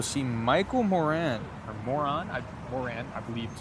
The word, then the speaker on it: Moran: Moran, I believe is how you pronounce it.